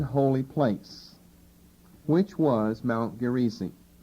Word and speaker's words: Gerizim: Probably better pronounced Gerizim, but the KJV I think has it accented as Gerizim, and so that's just one of those words you pick up, emphasizing the middle syllable instead of the last.